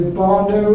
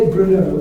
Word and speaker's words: Brno: Because I didn't know if it was a Barno or Bruno or Borno or it's not. You say Brno, it's the second city of the Czech Republic.